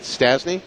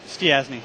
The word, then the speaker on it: Stiasny: Is it Stasny? Stiasny. Stiasny. So you actually pronounce all the vowels in your last name. It's a Hungarian.